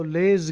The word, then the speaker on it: Les: So less Giblin I think the S is silent poor fellow as usual in this dumb language letters are there but you are told it is silent.